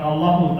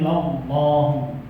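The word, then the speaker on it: لَلَّهُ: Itu bacanya bukan Allahu tapi Lallahu. La-nya di situ namanya lam taukid atau lam ibtida. Fungsinya untuk memberi penegasan.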